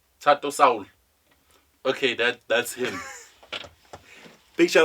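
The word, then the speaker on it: Thato Saul: He says ThatoSaul. ThatoSaul.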